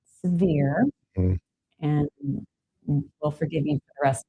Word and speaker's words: Sevierville: I said, you pronounce it Severe, not did they Seaver.